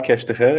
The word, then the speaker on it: Keshtcher: name and and so the name is cash to hear and thank you for having me I must